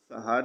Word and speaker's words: سحر: کا لفظ ہے اور اس کا درست تلفظ سحر یعنی سین اور ہے دونوں پر زبر ہے۔ سحر کا مطلب